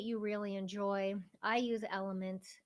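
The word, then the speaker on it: LMNT: electrolyte supplement that you really enjoy I use element it's spelled l m NT and I will leave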